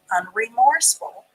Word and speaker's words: unremorseful: ful on three because the e is silent unremorseful u n r e